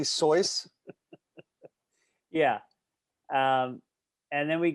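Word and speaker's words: Seuss: are you going to be that guy who pronounces it correctly soyuz yeah um and then we got uh you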